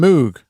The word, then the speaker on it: Moog: Even though Bob Moog himself stated that his surname, even though he said there was different ways to pronounce it, but he pronounced it Moog and he gave his justifications for it.